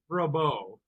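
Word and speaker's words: Rabaut: Rabout. Well, that pronunciation is a matter of some dispute, actually. So he Rabeau.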